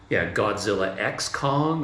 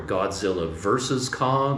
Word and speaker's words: Godzilla x Kong: Godzilla X Kong, or Godzilla versus Kong, or Godzilla times Kong. But anyway, a lot of people say cross.